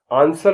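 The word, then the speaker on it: answer: माने गलत ए एन एस डब्लू ई आर आंसर माने उत्तर एस डब्लू ओ आर डी सोड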